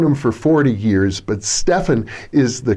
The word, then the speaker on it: Stephan: Sometimes I call him Stephan, and I've known him for 40 years, but Stefan is the correct pronunciation. He tolerates people like me calling him Stephan from time to time.